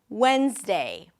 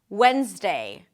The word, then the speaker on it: Wednesday: When, a w sound, the e as in red, and then an n. When, a z sound, whens, and then day. Wednesday, Wednesday.